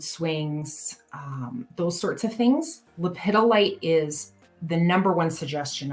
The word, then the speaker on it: lepidolite: you pronounce that so lepidolite is how i pronounce it uh it i have heard it pronounced leopard light it's there's i mean